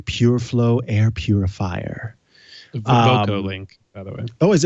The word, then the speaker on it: VocoLink: It's called the VovoLink PureFlow Air Purifier. VocoLink, by the way. Oh, is it VocoLink? Did they spell it wrong in this article?